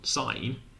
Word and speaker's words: sin: people pronounce this one people pronounce this one sign even though it says sin what's going on how